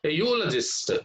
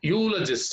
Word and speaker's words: eulogist: naveen is navini's a eulogist eulogist here also the from the letter the letter e from this one e plus u u so this is also beginning with a consonant sound here that's why you